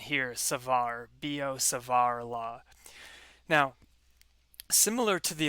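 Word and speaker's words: Biot–Savart: so this is the the t is silent there and the i sounds like e so this is b o and then the t is silent here savar b o savar la now similar to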